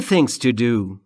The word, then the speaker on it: friends: یعنی دوستان بچه ها در مورد تلفظ ز دقت بکنید فر نیست یا فرز نیست ز به این دلیل که بین اف و r صدایی وجود نداره پس دقت بکنید که درست تلفظ بکنید fr من دوستان بسیاری